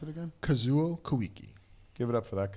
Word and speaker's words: Kazuo Koike: How do you pronounce it again? Kazuo Koike.